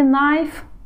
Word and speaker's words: knife: fog нож и вилка кей слове knife не читается так что канал забываем